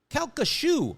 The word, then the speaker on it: Calcasieu: I don't know how to pronounce this incredibly weird spelled word pronunciation. Calcasieu.